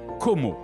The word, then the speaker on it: Como: l'enchanteur lac de Come que l'on prononce comoo en italien et anglais la ville change de